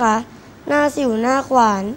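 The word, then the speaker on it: หน้าสิ่วหน้าขวาน: รู้ ด้วย สำนวน ว่า หน้า สิ่ว หน้า ขวาน อ่าน ว่า หน้า สิ่ว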